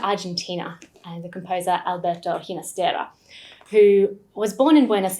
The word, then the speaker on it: Ginastera: to those roots and preferred to pronounce his name with the soft g ginastera instead but his music